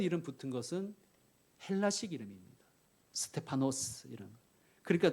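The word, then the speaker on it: Στέφανος: 스테파노스, 빌립, 필리포스, 브로고로, 프로코로스, 니가노르, 니카노르, 디몬, 티몬, 바메나, 파르메나스, 니골라, 니콜라오스.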